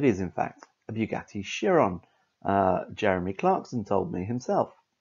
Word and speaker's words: Chiron: video uh i named this car incorrectly i pronounced it bugatti chiron it is in fact a bugatti chiron jeremy clarkson told me himself so the bugatti